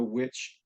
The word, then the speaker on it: Wych: To our viewers, the tree is spelled Wych, but the magic of homophones gets me to your poem Witch, Witch.